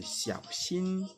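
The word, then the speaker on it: 小心: dire, afin que vous travailliez aussi sur votre prononciation. L'expression suivante, c'est attention, attention. Attention en chinois, c'est xiao xin, xiao xin, xiao xin.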